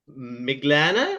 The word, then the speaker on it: Miglāne: joined by uh Adriana miglana I think is how you say it uh yes uh who will be